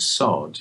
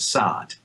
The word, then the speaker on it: sod: more english pronunciation but when you said the word sod you said sad and i i i